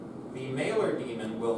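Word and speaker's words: daemon: mailer demon it's it's spelled demon but it's pronounced demon um it's like a a little a little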